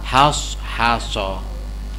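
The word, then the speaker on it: حصحص: Jadi mulutnya makhrajnya di shad ya haso. Jangan meskipun suaranya sh haso has nah itu namanya ta ya kan memperbaiki makharijul hurufnya bacanya haso ya.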